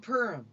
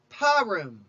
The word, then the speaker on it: Purim: out his diabolical scheme you can pronounce this name many ways in eastern tradition it is called purim purim among westerners it is often called paroum some central european communities even call it p room warning calling this holiday